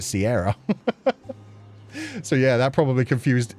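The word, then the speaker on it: Ciara: But yeah, there was the singer who had the name written like Kira, the Irish name, but pronounced it Sierra.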